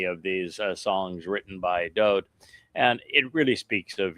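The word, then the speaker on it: דוד: And therefore it is Dode.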